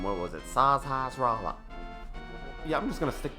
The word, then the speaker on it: Sahasrahla: How do you even pronounce that? Sahasrahla. Sahasrahla.